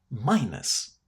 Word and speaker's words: minus: It's pronounced in a very similar way to how the letter S is pronounced in the English alphabet. Minus.